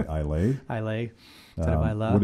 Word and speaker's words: Islay: Now, can tell you spell Islay? Come on. You know, Matt, you're on record here. I can probably spell it better than I can say it, because I still say Islay.